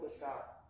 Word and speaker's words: wisa: Mapamak wisa. No, mapamak wisa. Wisa. That W is a syllable by itself.